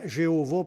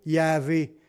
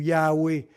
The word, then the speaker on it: Yahweh: mot, mais des prononcés Jéhovah par les témoins de Jéhovah, ou même dans notre Bible, ça va être écrit Jéhovah, mais la vraie prononciation, ça serait plutôt Yahvé ou Yahweh.